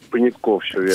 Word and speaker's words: Понятков: Правильно ли я ставлю ударение в вашей фамилии? Все-таки Понятков или Понятков? Понятков, все верно.